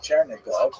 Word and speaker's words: Chernigov: And there's another, Isaac of Chernihiv, sometimes recorded as Isaac of or Yitzchak of Chernigov. That would be Russian pronunciation of the same place.